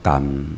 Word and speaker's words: 含: 那个含要念作感啊，用台湾话去发音感。